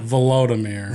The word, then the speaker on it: Volodymyr: Well, it's Volodymyr and Vladimir. Oh, that's on me. Volodymyr? Almost Voldemort. Volodymyr.